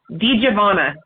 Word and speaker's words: DiGiovanna: death oh wow um did you pronounce his last name for me D javana so d i d i g i o v n n a a lot of people put an i at the end I've heard it pronounced